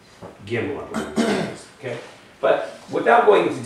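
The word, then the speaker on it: גימל: Gimel. Almost becomes fricative in the back of the throat, like you're kind of vibrating in the back of the throat.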